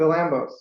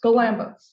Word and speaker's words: Galambos: Today's presentation, Introduction to Bonsai, Horticulture, Techniques and Art with, and I didn't ask you how to pronounce. Oh, Galambos. Galambos, yes.